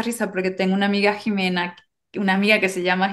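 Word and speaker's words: Ximena: Bueno aparent o sea se mantuvo la x con la pronunciación de la J entonces en teoría por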